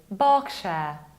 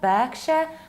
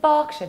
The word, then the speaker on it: Berkshire: It's Berkshire. Not Berkshire, but Berkshire because of middle ER that you need to pronounce like long R.